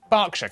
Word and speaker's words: Berkshire: ER is pronounced R. Berkshire, Clerkenwell, Hertfordshire.